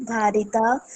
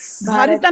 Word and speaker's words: भरिता: जगत, समम जगत रस भारिता भारिता नहीं, रस भरिता, भरिता भारत जनता अहम।